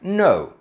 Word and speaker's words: know: Words like know, knowledge, knee, knife. In these words, we don't say the 'k' and we only say the 'n'.